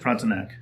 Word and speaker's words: Frontenac: Frontenac, yep. Yep. Us Americans, we say Frontenac. I'm sure the French or somebody else would say something different.